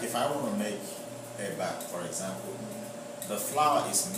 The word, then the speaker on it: eba: Yeah, but the part that I am from, you know, the common food is there's a food we call eba, EBA, you know, and inyo. Inyo is spelled IYAN.